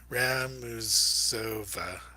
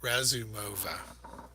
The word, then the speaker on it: Razumova: See if I can say her name right. Uh, Ramu, Ramuzova. Well, I was saying it right earlier today, but you're just going to have to forgive me. Um, yes, sorry, Razumova.